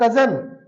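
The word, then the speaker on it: Cousin: ये कजन है लेकिन इसको बोला जाएगा कूजन। इसे बोला जाएगा कूजन, नॉट कजन।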